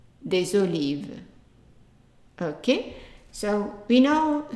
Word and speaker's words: olives: starts with a vowel, then that S is pronounced as a Z. We still pronounce des, but the S is pronounced as a Z. So des hôtels.